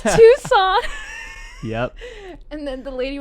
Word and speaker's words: Tucson: So, but I was like, oh, hey, so you're from Tucson. And it's Tucson.